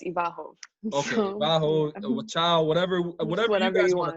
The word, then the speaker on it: Iwachow: the audience knows um i just say in english but it's ivarhov whatever whatever whatever you